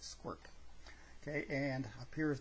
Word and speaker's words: sqrt: square root of x that's qrt and it's pronounced squirt okay and up here is the red graph